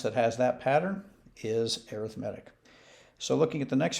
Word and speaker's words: arithmetic: sequence called arithmetic notice it's spelled like arithmetic but you pronounce it differently so this is an arithmetic sequence and by definition